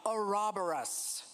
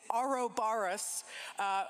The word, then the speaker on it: Ouroboros: As this event here also heralds the coming of Ouroboros. No, Ouroboros. Sorry, folks. I say it wrong. It's Ouroboros.